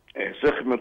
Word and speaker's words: سخمت: العثور على تماثيل المعبودة سخمت في المنطقة؟ وأرجو أن حضرتك تقول لنا النطق الصحيح للاسم. هي سخمت ده صحيح؟ سخمت صحيح حضرتك.